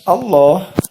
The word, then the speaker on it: الله: Kita membacanya Allah. Jadi seperti L dikasih huruf O, Allah, tapi ditahan. Allah. Seperti itu. Bukan Allah, tapi Allah.